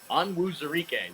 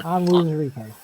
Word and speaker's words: Onwuzurike: Onwuzurike, there's the correct pronunciation. There you go. Yeah. Onwuzurike.